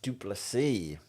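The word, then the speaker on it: du Plessis: want to talk about drusus dupy the S is silent um wow what did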